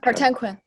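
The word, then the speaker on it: Kartemquin: um production support from cardem quinn is that the way you say it cardam cardem crypt cartenquin quinn oh emphasis on the second syllable um when did you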